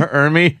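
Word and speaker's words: Ermey: Ermy.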